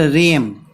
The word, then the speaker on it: realm: सो celestial रेम, REALM, रेम। यहाँ पे हम लोग को समझना है कि ए को हम लोग नहीं बोलेंगे, हम लोग सिर्फ RELM इसको ही हम लोग प्रोनाउंस करेंगे।